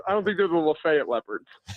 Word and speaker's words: Lafayette: During my read before the break, I mispronounced Lefayet Street, as in 219 Lefayet Street, where the Chase and Big Joe show will be on Friday for the grand opening of Goodwood National. I said Lafayette.